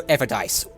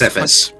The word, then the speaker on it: edifice: So the trail eventually leads each of you to a white, stark marble Everdice. You remember this place. Edifice. Edifice. 100 feet tall. Yeah, it's pronounced edifice.